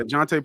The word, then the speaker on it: Jontay: How do you pronounce it? Jontay Porter, right? Yeah, Jontay Porter.